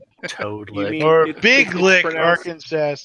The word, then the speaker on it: Arkansas: Toad Lick or Big Lick, Arkansas. It's pronounced Arkansas.